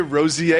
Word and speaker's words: Rozier: I want to say Terry Rozier every time. Rozier? No, it's Rozier.